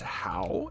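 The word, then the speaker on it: Howe: believe this is pronounced how h o w e how as in how could you do such a thing to me?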